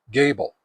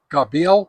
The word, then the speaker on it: Gabil: It's a dualband HT antenna from a company called Gable. Uh now I used to pronounce it Gabil, but apparently it's pronounced Gable.